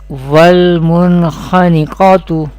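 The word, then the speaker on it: وَالْمُنْخَنِقَةُ: Recite like this: wal mun khaniqatu, and there is qaf from mustaliya letter will be pronounced with heavy voice or thicker voice in every condition.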